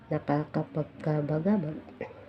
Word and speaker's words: nakakapagkabagabag: Then ang pinapabigkas ay nakakapagkabagabag.